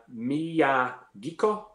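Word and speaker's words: Miyagikyo: flexion okay we have we have a kneecap Mia geek oh is that how you say it yep yeah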